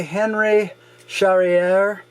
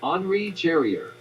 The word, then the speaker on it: Henri Charrière: And this is Papillon, and it's by Henry Charrière, and I know I mispronounced that, so thanks to the wonderful connection that I have to the entire world right here at my fingertips.